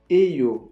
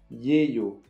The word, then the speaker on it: 예요: Les Coréens ont tendance à dire eyo au lieu de yeyo. Donc ne soyez pas surpris, à l'écrit c'est bien yeyo, mais vous entendrez surtout des phrases comme 요리사예요.